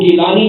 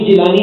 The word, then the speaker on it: جیلانی: تلفظ کا فرق ہے۔ عربی زبان کے اندر گاف نہیں ہوتی، گاف کو جیم کر دیتے ہیں۔ گجرانوالا کو جب عربی پڑھتے ہیں تو گجرانوالا کہتے ہیں، وہ گاف کو جیم کر دیتے ہیں۔ تو گیلانی جیلانی ایک بات ہے، جیلانی بھی کہتے ہیں گیلانی بھی کہتے ہیں۔ تو گیلان اس کا فارسی تلفظ ہے اور جیلان اس کا عربی تلفظ ہے، دونوں ایک ہی بات ہے، ایک ہی شہر